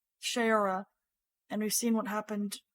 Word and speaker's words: Shayura: So I just worry because we've seen what happened to Soraya. I said her name wrong again. Frack. Shayura.